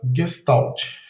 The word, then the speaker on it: Gestalt: Então, Gestalt é uma palavra pronunciada Gestalt, de origem alemã, que pode ser traduzida como forma total, forma global.